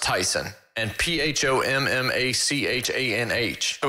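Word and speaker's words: Taisun: i've looked it up so it's t-a-i-s-u-n that's pronounced tyson and p-h-o-m-m-a-c-h-a-n-h oh it's tyson pumachon really tp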